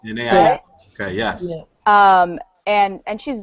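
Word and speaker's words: Jhené Aiko: I always get her name wrong. I believe it's Janae Aiko. Janae Aiko.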